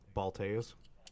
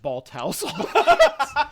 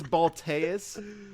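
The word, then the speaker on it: Balteus: that you sent us how do you pronounce that what balas balas why did that never even cross our mind not even I don't know we pronounced it Bal house yeah I think it by the end of the episode I just started calling it ball house it's balas yes that's such a badass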